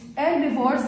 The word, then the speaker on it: herbivores: group is the divorce we do not pronounce the age herbivores are the animals that